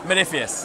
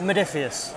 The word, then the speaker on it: Modiphius: Modiphius. Modiphius. Yeah. Fair enough. So as you said, how do you pronounce it? Greek sounding. Yeah. It's Modiphius.